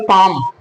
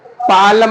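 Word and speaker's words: palm: जो है साइलेंट होगा फॉर एग्जांपल पाम हम पढ़ेंगे पाम पी ए और यह हमारा हो गया एल तो एल हमारा ये साइलेंट है तो अब हम पढ़ेंगे क्या पालम नहीं पढ़ेंगे बिल्कुल भी नहीं पढ़ेंगे पाम पढ़ेंगे एल हमारा साइलेंट है तो हम क्या पढ़ेंगे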